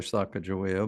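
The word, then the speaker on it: Sacagawea: saddles and Sakoa, well, we call her Saka Ja, but proper pronunciation, I think, Sakawa went out into the meadows, dug these bulbs, roasted them, and kept them from starving.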